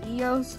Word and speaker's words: EOS: we work out at eo's gym i don't even know if i'm saying it right it's eos fitness like yo but i i don't